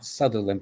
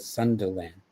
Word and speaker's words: Sunderland: and Sunderland. Sunderland. Not Southerntherland, but Sunderland.